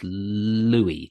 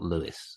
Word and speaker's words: Louis: Okay, I'm going to go for, I reckon it's Louis, not Lewis. Or am I wrong? That's correct. That is correct.